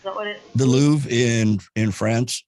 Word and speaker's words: Louvre: what it is the louvre in in france right yes it has an r at the end but you don't pronounce it or an e at